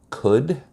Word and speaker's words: could: I never understood letters that weren't pronounced, like the letter L in the word would, could, should.